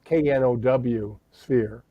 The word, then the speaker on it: noosphere: Why not call it KNOW sphere, noosphere? Yes. And that really is the Greek word knowing is to know. So noosphere really is KNOW sphere.